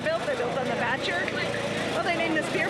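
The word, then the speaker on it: Batture: So I ordered the Batcher Blonde.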